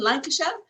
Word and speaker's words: Lancashire: a man from lancashire that's how you say it in england lancashire i said that right nearly nearly well i